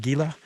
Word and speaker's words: Gila: did confirm that indeed it's pronounced gila not gila um so that was